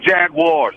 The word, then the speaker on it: Jaguars: It's Jaguars. Yeah, that's the way I pronounce it too. Yeah, me too. It's not Jagwires.